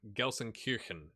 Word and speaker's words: Gelsenkirchen: in essen germany and obviously gelsenkirchen which i think is how you said it or how you say it i got some